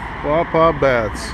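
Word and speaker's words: Quapaw Baths: Pawpaw Baths. Yes, that's how you pronounce it.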